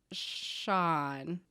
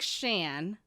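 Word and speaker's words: Sían: And she says, my name's pronounced like Sean. Not like Shan, as in short for Shannon, and not like Sean either, like S-H-A-U-N. Like Sean. Sean.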